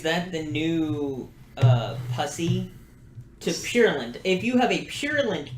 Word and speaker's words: purulent: Purulent. What is Purulent? purulent? Peruvian. That makes purulent. Let's get the pronunciation.